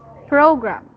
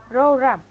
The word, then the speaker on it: program: very good job but for program the intonation as is at first syllable so it is program program okay very good now